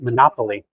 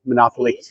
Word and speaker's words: Monopoli: Actually, I want to correct myself. I did hear people saying Monopoly. So, I know people are going to roast me in the comments for mispronouncing it this whole video, but uh please give me some credit for correcting myself at the end.